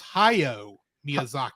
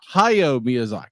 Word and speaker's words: Hayao Miyazaki: It's Hayao Miyazaki. Hayao Miyazaki.